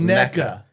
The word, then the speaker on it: NECA: It's called neca.